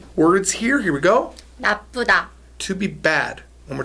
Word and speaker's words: 나쁘다: Now, if you hear a little bit of a stress on the middle, right? Mm-hmm. A little bit of a stress because it's got the double biup.